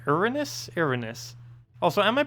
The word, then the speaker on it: Erinyes: Erinyes? Erinyes. Also, am I pronouncing that even remotely correct?